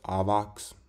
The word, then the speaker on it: Avax: recently after the ama it's pronounced avox or something like that you don't pronounce it avalanche yeah whatever i guess